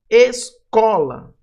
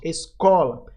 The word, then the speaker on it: escola: Escola. Ó, o có aqui vai ser a sílaba mais forte. Escola.